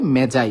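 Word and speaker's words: magi: মেগাস এর প্লুরাল হবে মেজাই এটার উচ্চারণ কিন্তু ম্যাগি না এটার উচ্চারণ আসলে মেজাই মেজাই মানে হচ্ছে সাধু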